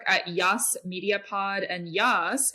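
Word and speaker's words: Jas: Yas media pod and Yas is spelled j as in Justine and Sarah uh our website is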